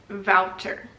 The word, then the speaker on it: Wouter: I'm pretty sure it's Wouter because the W is a V in Dutch, I think, for most cases.